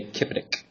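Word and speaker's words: CPCTC: congruent triangles are congruent, you can say kipetic. Okay? And what I mean by kipetic is this: C, P, C, T, C. Just like it sounds, is how it's spelled, kipetic.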